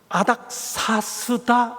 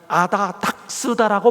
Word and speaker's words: 아닥사스다: 그게 뭔가 하면 아닥사스다 몇 년이라고 성경에 되어 있는데, 그 아닥사스다에 기초한 소위 예언 해석에 대해 반론을 제기하면서 이분이 계속해서 뭐라고 발음하시는가 하면 아다닥스다라고 발음합니다.